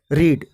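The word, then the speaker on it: read: रीड rate पर एंड यहां पर एक बात ध्यान देना है कि वह कि तीनों फॉर्म्स की स्पेलिंग सेम है रीड की स्पेलिंग सेकंड फॉर्म और थर्ड फॉर्म में भी सेम है लेकिन प्रेगनेंसी से डिफरेंट है वह की फर्स्ट फॉर्म करेंगे रीड और सेकेंड और थर्ड फॉर्म को करेंगे रेड इस लेकर यहां पर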